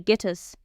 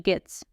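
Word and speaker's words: Gittes: Cross never calls him Mr. Gittus. Instead, he repeatedly mispronounces his name as Mr. Gits.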